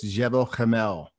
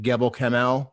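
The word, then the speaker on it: Gebel Kamil: meteorite from egypt um pronounced correctly it's jebel camel everyone calls it gabo kamel but he uh and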